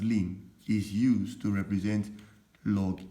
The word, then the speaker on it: ln: simply saying that lean ln which is pronounced as lin is used to represent